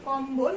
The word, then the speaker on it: কম্বল: যেমন লম্ব, এই যে দেখো আমরা উচ্চারণে বানানটা লিখেছি লম্ব, তারপরে আমরা লিখেছি কম্বল। কম্বল, এখানে কিন্তু আমাদের বয়ের যে উচ্চারণ সেটা কিন্তু ঠিকই থাকছে।